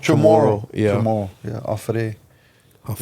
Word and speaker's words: Chamorro: Chamorro. Chamorro.